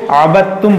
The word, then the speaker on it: عبدتم: اس کو جو ہے جب ہم ہجے کریں گے تو پڑھیں گے، لیکن جب اس کو ملا کر پڑھیں گے تو دال کو ہم چھوڑ دیں گے۔ جیسے جب ہجے کریں گے تو کیسے پڑھیں گے؟